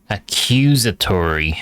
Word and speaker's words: accusatory: Accusatory? Like exactory? Accusatory. Oh, the second syllables are stressed. Second syllable is stressed.